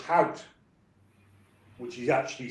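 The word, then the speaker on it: Howth: came from County Dublin uh a town called how which is actually spelled h a WT I think but they pronounce it how and her dad used a local pub in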